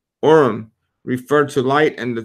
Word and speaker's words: Urim: And then in verse 8, it says, the Urim pronounced Urim referred to light and the Thummim to be made perfect.